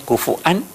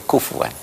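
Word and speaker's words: كُفُوًا: Dibacanya kufuan atau kufuwan.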